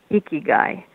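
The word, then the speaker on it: ikigai: use it yes and I'm actually going to spell it because it's so unusual i k i g a i iy guy however um as we pronounce it it sounds the uh eyes are attributed an e a double e sound it's an okan tradition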